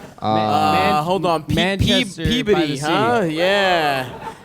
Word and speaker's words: Peabody: Manchester by the Peabody, sea. huh? Yeah. And I said it right, too, motherfuckers. Yeah. 'Cause I used to say Peabody, which makes more sense, but...